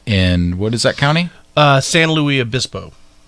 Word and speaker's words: San Luis Obispo: San Luis Obispo. How do you say that again? San Luis Obispo. So you're doing kind of a French as well as a Spanish.